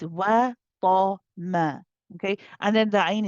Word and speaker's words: وَطَمَعَ: But then you switch back to a light meme. Wa ta ma. Back to ma, not ma. Be careful not to say ta ma.